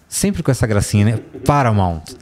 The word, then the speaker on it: Paramount: Como é que é a pronúncia do Paramount? Sempre com essa gracinha, né? Paramount.